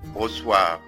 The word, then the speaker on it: reçoivent: Les Rigoux reçoivent. Les Rigoux reçoivent. تمام. حرف السي سي دي زي ما قلنا قبل كده إن في كل الأحوال بينطق زي حرف الاس.